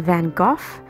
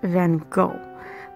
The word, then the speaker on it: Van Gogh: Vincent himself would have pronounced the latter syllable of his name with the short O and a hard guttural CH, like in Loch.